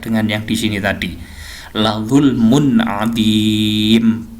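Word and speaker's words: لَظُلْمٌ عَظِيمٌ: La zulmun adim. Jadi bacanya bukan la zulmun adimun, bukan. Ini juga bukan ilayyal masiru, bukan, tapi ro-nya dibaca mati.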